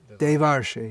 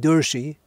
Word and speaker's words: Devarshi: What's the proper pronunciation? Devarshi, yeah. So, okay, now I know. So if I keep on saying Durshi, is that very good? If I see you every day and every day I say Durshi, Durshi, Durshi.